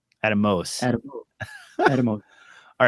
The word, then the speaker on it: Atomos: I always say Atomus or a Thomas, but it's I don't know which one's the correct way to say it. If if I may. Uh, I don't like to correct you because you often know more than I do, but it's it is Atomos. Atomus.